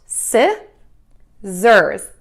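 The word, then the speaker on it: scissors: backpack it is pronounced SI zers yes z e r z yes zurs so this is another instance of we use the letter S as a z sound so we're going to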